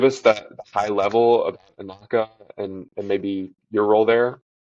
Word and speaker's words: Anocca: how do you pronounce A Anocca, which knock, is where a knocker. Yeah, correct.